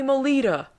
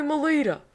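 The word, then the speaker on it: Mottola: demo tape to Tommy Molita I feel like I have to say it like that I mean you can say mol but I'm pretty sure he went by Tommy Molita the head of Columbia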